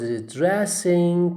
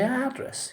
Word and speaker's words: address: your address you don't say address okay but you say the president was addressing people okay or the president was addressing the nation okay you don't say address you say address you don't say address